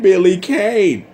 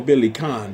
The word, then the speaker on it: Billy Kane: Blue Mary, Yamazaki, and Billy Kane. Like, or Billy Khan, depending on how you wish to pronounce it.